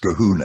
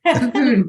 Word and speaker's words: Colquhoun: Yes, it's pronounced Cahoon, actually. Don't blame me. Blame some balmy 11th century Scot who thought the LQ should be silent. Colquhoun, David Colquhoun.